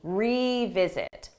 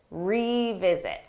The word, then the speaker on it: revisit: again but for pronunciation that re is a strong sound e you hear that e revisit revisit let's revisit this down